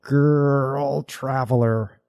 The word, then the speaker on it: GrrrlTraveler: we should do is clear up the name of your channel girl traveler you did it right thank you it is